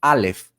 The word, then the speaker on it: Aleph: Pero cuando yo veo el nombre de la letra Aleph, que se dice así, Aleph, en hebreo se escribe Aleph, Lamed, P.